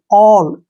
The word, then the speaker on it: all: जब किसी वर्ड में ए के बाद डबल एल आए तो ए का उच्चारण हम ओ करेंगे, ओ, ठीक है ना। जैसे ए डबल एल, ऑल, ए के बाद क्या